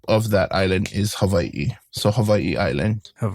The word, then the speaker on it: Hawaii: And you can, you know, people say it like with a V, Havi, or people even say Hawaii. Either or works. And even my mom, she goes Havi. So, it's there's many different pronunciations. Then I'm not saying it which one is right or wrong, but the way I would say it is Hawaii.